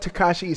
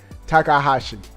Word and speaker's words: Takahashi: All right, this is what Takashi says. Not Takashi 69. Shiota, Nintendo's Takahashi. I'm saying his name wrong. Takahashi.